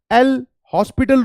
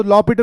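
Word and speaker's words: L'Hôpital: I am coming just once, listen to the fifth one The point is we use the LH rule l hospital rule but h is silent to law Pital says rule yes I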